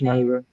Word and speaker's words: Scheider: Uh Roy Scheider, I think is how you say his Scheider.